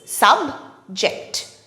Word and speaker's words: subject: it has two syllables subject subject when subject is used as a noun the stress false on the first syllable subject subject subject for